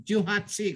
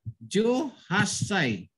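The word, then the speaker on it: 十八歳: Hindi siya mabigkas ng Juhatsi, kundi Juhasai. Kasi nga, pag isulat siya, ay ganito mangyayari. Ju, may liit na tsu.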